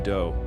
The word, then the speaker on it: Do: This guy Marshall Appawite, but his friends called him Do, which rhymes with Joe.